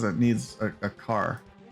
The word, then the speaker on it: char: says it needs a car I say char it's pronounced car let's do another lure